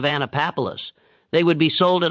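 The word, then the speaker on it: Annapolis: The ship was bound for Naples, which some captives recognized as the Mandinka pronunciation of Anapapolis.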